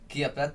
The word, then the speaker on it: Chiappetta: That's the Italian pronunciation. So Wow, now because I know everybody knows. one C is the ch sound.